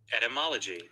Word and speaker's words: etymology: e.t m-o m-o-l-o-g-y okay etymology etymology at one two three four five five syllables at etymology the study